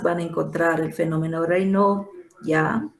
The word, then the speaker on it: Raynaud: Esta es la enfermedad donde más van a encontrar el fenómeno Raynaud, ya, Raynaud, no se escribe, Raynaud se lee.